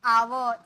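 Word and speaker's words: our: यू आर यानी कि आवर इसे हम बोलते हैं इसे हम बोलते हैं आवर आवर लास्ट वाला र ना आधा सिर्फ आवर आवर का मतलब होता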